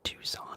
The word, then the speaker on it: Tucson: uh yes Captain munch Jubilee um she does those videos uh ASMR collect and play uh why is Tucson pronounced Tucson and not Tuscan that's a good question